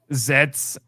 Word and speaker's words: ZEZTZ: I think the middle Z is silent, so it's just Oh, Zets.